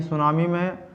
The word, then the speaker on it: tsunami: टी आप पहले ही बताया कि सुनामी में टी शब्द का प्रयोग पहले किया जाता है, यहाँ साइलेंट रहता है टी।